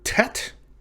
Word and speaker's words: tet: hebrew aleph bet is the letter tet this makes the sound of a t in the english word toy or ton or tub or t or tap and so on and